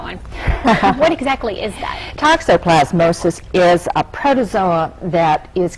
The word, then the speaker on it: toxoplasmosis: to practice that one what exactly is that toxoplasmosis is a protozoa that is carried in it's